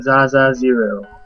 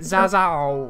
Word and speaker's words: Zaazaa0: Hello, I'm Zaza Zero. So it is actually pronounced a zero. I did always wonder about that. Yes, it sounds weird with the O. I just always ended up pronouncing it Zazao when it was just like ancient Chinese philosophy.